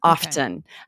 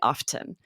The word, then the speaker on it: often: would pronounce the T often. And then, but in other Oh, parts of the UK, the T is silent.